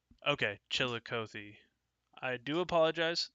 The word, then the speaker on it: Chillicothe: now you're you're all good uh chili uh Chillicothe is that correct okay Chillicothe I do apologize it's some of these towns